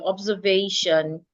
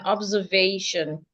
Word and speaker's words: observation: So one of your words earlier was observation. You actually to stress the penultimate syllable. That is the second syllable from the and observe. So mine is not a question, it's an observation.